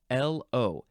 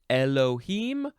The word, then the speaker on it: Elohim: You can pronounce it Elohim or Elohim. Elohim. I think the first pronunciation is more accurate. That's why they put it there first. But the second one sounds a bit more like it's spelled.